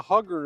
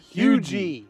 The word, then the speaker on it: Huger: yeah I I did I said going out the hugger to show a house I'm a hugger somebody said you're an idiot it's Hui hugi South Carolina h u g e